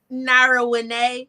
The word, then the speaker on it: Nara Winay: Nara Winay. So Nara Winay. But when you read it, people be like marijuana.